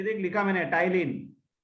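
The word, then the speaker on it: ptyalin: ये देख लिखा मैंने, टाइलिन. P is silent. It is also called टाइलिन.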